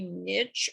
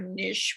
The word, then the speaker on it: niche: You know, almost all books have a niche or a niche, whichever one you want to pronounce it, audience.